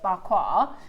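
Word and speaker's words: Pa Kua: It means but you pronounce it bqua.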